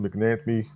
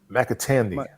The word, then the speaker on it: McAtamney: Already played Jake Elliott and Jude McNamee. McAtamney. Okay, McAtamney. Sorry, McAtamney.